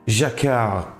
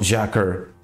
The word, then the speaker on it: Jacquard: Finally, a video explaining what Jacquard fabrics are and how they are manufactured. Like me, you will surely have Jacquard fabrics. Watch out, it's Jacquard, not Jacquard. French people are very sensitive regarding pronunciation. Anyway, you will surely have